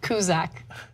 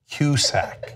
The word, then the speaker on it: Cusack: then there's a celebrity's name that you always mispronounce and it's hilarious john cusack kuszak cusack excuse me yeah he's an excellent progress who